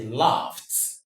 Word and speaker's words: laughed: He laughed at me, not he laughed at me. So this is the right option, considering the fact that we have this ed being pronounced as t, laughed.